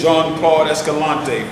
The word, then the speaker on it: Jean-Claude Escalante: It's Jean-Claude Escalante. First name French, last name. Y'all heard that? First name French, last name Spanish.